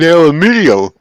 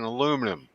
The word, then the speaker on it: aluminium: Just like no such thing as aluminum. No, it's fucking aluminium. Well, over here in Canada and the U.S., we call it fucking aluminum. Not UK everywhere. calls it aluminium.